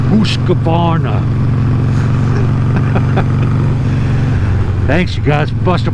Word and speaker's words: Husqvarna: I'm working on, let me pronounce it correct, Husqvarna.